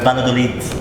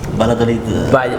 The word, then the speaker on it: Valladolid: And Valladolid. Valladolid.